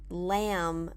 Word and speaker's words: lamb: eat duck not really lamb and notice the pronunciation lamb we don't pronounce the bee again not a